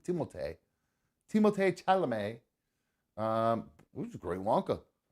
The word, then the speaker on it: Timothée Chalamet: It's not Timothy. It's Timothée Chalamet.